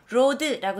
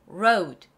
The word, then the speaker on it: road: 거 도로로 근데로드 아니에요로드로드 아니고 로로로 이런 식으로 로드라고 외우지 마세요 발음대로 외우셔야 돼요로 다시 따라해 볼게요 road road 그래요 이거 발음을 정확하게 내야 돼요 sad